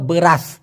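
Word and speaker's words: beras: বলা হয় বের রাস বি ই ব আর এস এস হবে ছ এর মত উচ্চারণ এজন্য ব্রাস মানে চাউলকে বলা হয় ব্রাশ আর আমরা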